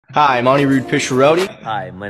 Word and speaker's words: Anirudh: The correct Sanskrit pronunciation is Anirudh, but I go by Anirudh.